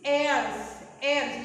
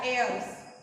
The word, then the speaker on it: heirs: But the pronunciation of these heirs is heirs, just like air, heirs. In this word, h is a silent.